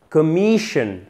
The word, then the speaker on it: commission: Commission, ça se termine par S-I-O-N. On a l'accent tonique juste avant, commission. Mais ici, c'est un I court.